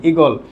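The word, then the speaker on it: ঈগল: তুমি কি কাউকে বলবে আমার মাথার উপর দিয়ে ইগল উড়ে যাচ্ছে? আমরা কিন্তু সেরকম বলি না। আমরা কি বলি? ইগল। আমরা কিন্তু টেনে বলি না, দীর্ঘ করে বলি না।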